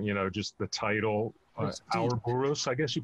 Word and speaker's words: Ouroboros: It seemed a lot more conceptual, you know, just the title, Ouroboros, I guess you pronounce it? Yes, Ouroboros.